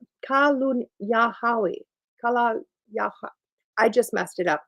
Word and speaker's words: Kalunyahawi: It is pronounced Kalunyahawi.